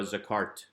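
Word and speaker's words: זָכַרְתְּ: would be pronounced but because it is at the end of the word it is not pronounced as hard so it is more of a zakart just getting us to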